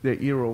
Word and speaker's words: Eero: Rhymes with hero, though, so it must be your hero. Yeah, so Eero is basically they don't want you to call it a router.